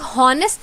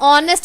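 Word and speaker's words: honest: लोग इसे बोलते हैं तो हम लोग नेस्ट थोड़ी ना बोलते हैं हम लोग ऑनेस्ट बोलते हैं ऑनेस्ट में सबसे पहले क्या बोलते हैं हम लोग ओ बोलते हैं एच क्या हो जाता है साइलेंट हो जाता है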